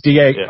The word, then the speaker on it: Dardanelles: It's Dardanelles.